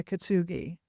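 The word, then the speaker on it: Kintsugi: remember the name of it's um Kitsu Suji. I don't know how to say it. Yeah, Kitsugi.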